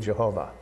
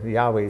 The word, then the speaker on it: Yahweh: Lord like and so they put the vows from Adonai underneath Yahweh and you get Jehovah and it's uh it's just a misp and it's a correct